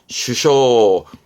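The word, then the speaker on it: 首相: 뭡니까 총이라 그러나요 그죠 그거를 쓸 때 발음은 쇼입니다 슈쇼 꼭 챙겨 두세요 이때 발음은 쇼라는 거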